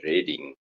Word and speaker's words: Reading: The city is called Reading, but you spell it the same as reading.